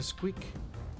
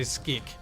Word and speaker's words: SQEK: squeak and them cheeks gosh darn it profound's always mispronounced squeak or squeak it's pronounced key or it's spell sqek but i would say squeak because quick sounds and don't ask scandinavians because they say skik that sounds even stupider and thank you for